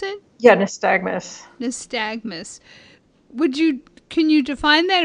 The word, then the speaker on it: nystagmus: So the term nystagmus, how do you pronounce it? Yeah, nystagmus.